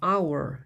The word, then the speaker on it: hour: 그래서 hour 읽을 때는 생긴 건 hour처럼 H가 있는데 이건 묵음이라고 해서 소리가 나지 않습니다.